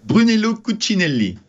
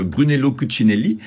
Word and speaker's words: Brunello Cucinelli: le titre de brun brunellment comment vous le prononcez vous Brunello cuccinelli mais j'ai eu du mal à la prononcer